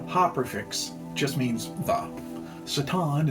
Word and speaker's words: Satan: Satan instead of Satan is standard Hebrew pronunciation, putting the emphasis on the last syllable.